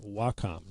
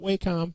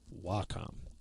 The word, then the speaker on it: Wacom: We've talked about that and Wacom tablets and yes, it is pronounced Wacom, not WHCOM, not Wacom, most definitely Wacom.